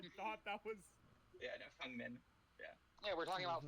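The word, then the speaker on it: Feng Min: People pronouncing it Fang is like the American.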